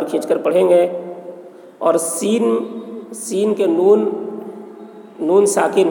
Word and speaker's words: سین: کو اخفا کہتے ہیں۔ سین، سین کے تلفظ میں یا حرف مد ہے، اس کے بعد نون ہے جو سکون ہے، تو حرف مد کے بعد والے حرف، والا حرف سکون ہے اور حرف مقطعات میں سے ہے، اس لیے مد